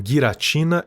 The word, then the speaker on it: Giratina: A propósito, eu sei que os nomes se pronunciam guiratina e arqueus, mas eu não tô nem aí. Para mim, geratina e Arceus são mais legal.